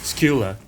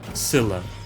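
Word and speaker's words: Scylla: Greek monster is actually pronounced Skula, not Sila, not Sila either.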